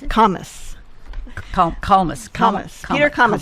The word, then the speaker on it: Kalmus: Kalmus. Kalmus. Peter Kalmus. He says Thomas with a K.